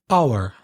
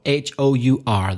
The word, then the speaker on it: hour: Hour. So HOUR, the initial H is silent.